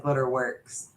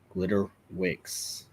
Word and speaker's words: Glitter Wicks: that's what I said you said glitter works oh glitter Wick my bad say it correctly glitter Wicks there you go definitely go